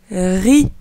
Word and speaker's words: riz: Ensuite, ri. Ici, le Z ne se prononce pas. On prononce juste les lettres R-I.